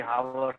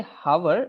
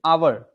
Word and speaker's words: hour: and honest yeah so in both of them you see the H is actually silent we don't say hover it's an hour hour and honest hours